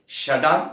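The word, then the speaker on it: שדי: சர்வ வல்லமையுள்ள தேவன் என்றார் சர்வ வல்லவர் என்றால் எபரேய மொழியில் ஷடான் என்று உச்சரிக்க வேண்டும் ஷடான் என்பதற்கு தன்னிறைவு உடையவர் என்று அர்த்தம் அவரிடத்தில் ஒன்றும் குறைவில்லை எல்லாம் நிறைந்தவர்.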